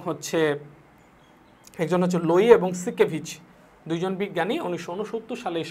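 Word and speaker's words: Siekevitz: এবং হচ্ছে আর একজন বিজ্ঞানী, সেটা হচ্ছে কি সিকেভিচ, লোই এবং সিকেভিচ, SIEKVITZ, বানানটা কিন্তু একটু অন্যরকম, ক্রিটিক্যাল।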